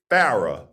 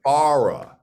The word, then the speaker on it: Farah: It looks like Farah, but it is not. Oh. It is Farah. Oh, really? Oh. Yeah, like far away.